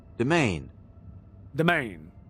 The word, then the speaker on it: demesne: Okay, so it's Demesne. There we go. All right. Domain.